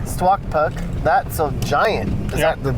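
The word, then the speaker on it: Stuaqpak: How do you say that? Stwakpuk. Stwakpuk.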